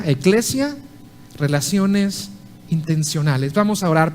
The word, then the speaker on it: Ekklesia: Repito, he titulado el mensaje de hoy Eclesia, y la palabra se escribe E-K-K-L-E-S-I-A, Eclesia, relaciones intencionales.